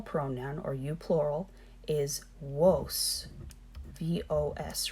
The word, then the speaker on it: vos: or you plural is Woese vos remember our darvey's and sound like double use woese they eventually became two